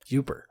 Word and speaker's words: Yooper: a yuppie and Yankee it's spelled y-o-o-p-r like Cooper but with Hawaii yuper like Whooper but without the witch all right uh so